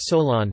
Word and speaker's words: Solon: Pronounced Solon, famous Athenian lawmaker and lyric poet.